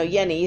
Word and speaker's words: Jenny: shalad knees and Jenni's I keep saying Jenny Henny yeni no yeni sorry je and n Weisfeld yeah there's pronounced Jenny in Switzerland anyway Yanni's work influence